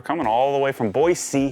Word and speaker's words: Boise: Thanks for coming all the way from Boise. That's how we say it, right? You have to carry the S.